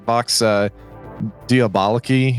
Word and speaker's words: Vox Diaboli: So that's Vox Diaboliki.